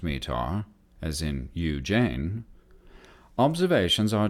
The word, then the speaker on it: METAR: TAF TAF terminal aerodrome forecasts respectively m-80a are pronounced METAR as in Ujjain observations are taken hourly at